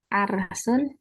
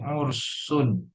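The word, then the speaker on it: عُرْس: Arsun. Apa? Arsun. Arsun. Iya. Atau Ersun. Apa artinya kalau Arsun? Sebentar Ustadz. Apa? Eh, Apa bacanya itu? Hmm? Pernikahan bukan Ustadz? Ya, pernikahan. Tapi bacanya bukan Arsun, tapi Ursun.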